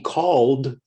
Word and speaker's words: called: here's a different one in called the e d sounds like d call is one syllable called is also one syllable the e is silent you don't say the e in opened the e